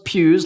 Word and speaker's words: Pugh: yeah it's be honest finally it's Hugh but with a p be honest finally all right it's Pudge we'll be back we're back how old was Florence Pew in Little Women how